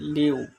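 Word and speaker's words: 六: 6, বাংলাতে 6, চায়না ভাষায় উচ্চারণ হবে লিউ।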